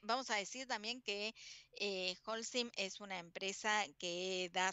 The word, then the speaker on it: Holcim: se pronuncia como J no se pronuncia es muda y le decimos hsim a ver Claudia sácame